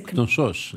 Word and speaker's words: Knossos: I say Knossos in Greek, Knossos. You do pronounce the K? Yeah. Oh, but the accent is on the... On the second syllable, syllable, Anyway, I've been pronouncing that wrong all my life.